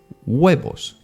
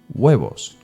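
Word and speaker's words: huevos: as you can see it has the H at the beginning of the word but you don't pronounce it it's there you kind of try to say it but you actually don't weos weos and the best example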